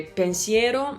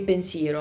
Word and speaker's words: pensiero: finalmente invece di finalmente, potrei dire pensiero invece di pensiero.